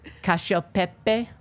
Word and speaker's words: cacio e pepe: cacio pepe. Yeah. Yeah. Okay. Yeah. Yeah. That's how they say it in Italy.